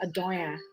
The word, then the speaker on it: Adora: started a diabetes so it's actually a greek word that is pronounced adora right it means a beautiful